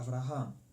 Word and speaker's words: Avraham: Yeah, just have to make sure the accent is on the last syllable. Oh, okay. So how do I do that? Avraham, as opposed to Avraham.